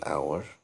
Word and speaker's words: hour: eel etc and plus nouns starting with silent h examples an hour and honest i mean an honest